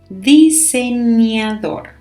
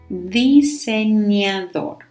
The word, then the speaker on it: diseñador: Diseñador. Diseñador. So pay attention here to the pronunciation of that letter, the ñ.